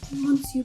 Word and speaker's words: Monsieur: The next fine dining happens over in Epcot in the France Pavilion, and it is Monsieur Paul.